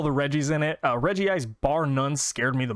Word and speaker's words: Regice: this next one but my favorite ice type Pokemon is Reggie ice or Regice however you'd like to pronounce it I'm going to pronounce it Reggie ice because everything else is a Reggie and he's not so Reggie ice it is and yeah gen